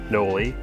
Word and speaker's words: Noli: This is the Noli Chilcotin, and yes, that is how you pronounce Noli. It's Noli, named after Noel, who designs the bikes and runs Noli.